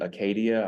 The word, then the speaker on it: acedia: But there's an ancient word called acedia. Some people pronounce it Acadia. I just don't do it.